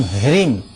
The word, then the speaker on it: ह्रीम: ओम ह्रीम गौर नमः ओम ह्रीम एच आर आई एम यह उच्चारण होना चाहिए ओम ह्रीम गौर्य नमः